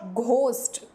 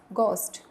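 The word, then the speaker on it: ghost: एच ओ एस टी इट्स नॉट घोस्ट यह जी एच नहीं है इट्स गोस्ट एच is silent यर यहां पर एच नहीं प्रोनाउंस करेंगे गोस्ट आते हमारे एंड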